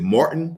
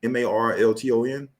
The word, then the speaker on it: Marlton: in Philly is it Martin New Jersey that's where they at Martin New Jersey I it's not Martin but Mart m a r l t o n hold on say that